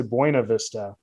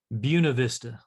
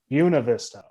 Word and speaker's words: Buena Vista: Because I'm not a Colorado native, and I say Buena Vista, but that's not it, is it? Buena Vista. Buena Vista. Okay. So say it the Colorado wrong Spanish pronunciation, like we do with so many things, like Salida and Lyman.